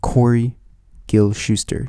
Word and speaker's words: Corey Gil-Shuster: to our conversation and watch a conversation with corey gil shuster did i pronounce that correctly you did you did perfect